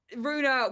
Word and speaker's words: Ruena: But Ruena with just a U was taken so many times, so I couldn't. So I was like, well, Rue's a word, like Rue the day, and in France, no problem.